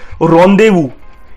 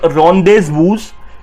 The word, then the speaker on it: rendezvous: So our next word is rendezvous. It's not rendezvous or rendezvous, it's rendezvous. It means a meeting at an agreed time and place, and ये एक French word है rendezvous, and इसकी pronunciation है RON hyphen DEI hyphen VOO.